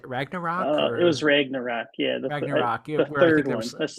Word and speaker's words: Ragnarok: ra how do you say Ragnarok it was Ragnarok yeah Ragnarok third one that's the third one